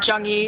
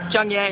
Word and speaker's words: Zheng Yi: Now, in terms of from the first book to the second, I'm probably going to pronounce this wrong, but Zheng Yi, is that? Zheng Ye. Zheng Ye.